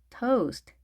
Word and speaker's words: toast: toast, toast. 자, 우리 한글로 보통 표기하면 토스트 이렇게 그냥 쓰잖아요. 토가 아니죠. toast, toast. 길게 발음하셔야 되겠습니다.